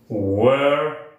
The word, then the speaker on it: were: cantantes Where we singers Recuerden que si la palabra comienza por wu lo mejor que usted puede hacer es pronunciar la u como la nuestra Where we singers esa de guerra como de Guillermo no sing no singers